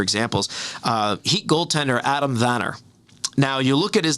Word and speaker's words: Werner: uh heat goaltender adam vanner now you look at his name and it's spelled w-e-r-n-e-r so any americans like oh that's adam werner you know but that's not it he's swedish right so um it's it's